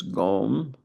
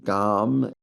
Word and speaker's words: gom: The Tibetan word for meditation is gome or gum as we westerners or at least in Wisconsin pronounce it.